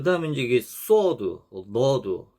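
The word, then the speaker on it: صاد: 그래서 다시 한번 이게 sword는 아까 배운 sin 이 시옷 발음보다 조금 더 둔탁하고 무거운 소리입니다. 둔탁한 소리. 그래서 혀가 밑으로 쫙 깔리는 소리.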